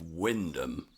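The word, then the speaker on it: Wymondham: Just like in the Herafordshire episode of this series, we start off with a trick pronunciation. In this case, from the town of Windom. Yes, the first M and the O may be silent, but the town's architecture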